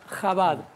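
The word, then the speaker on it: Chabad: de la palabra que se deriva es jabad con la J Argentina Aunque en inglés se escribe una c y una H gracias por este buenos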